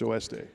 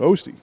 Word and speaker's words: Oeste: It's oeste. Oh, okay. Oh. OS day. Oeste. It's spelled the same. And when my ancestors came here, nobody could pronounce that, so they just call it Osti.